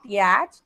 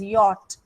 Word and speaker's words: yacht: Okay, it is pronounced as not yacht, it is pronounced as yacht, and this is dinghy.